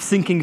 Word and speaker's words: Fsyncing: welcome to Jepsen nine of sinking feeling that is the official pronunciation for the system call should you ever need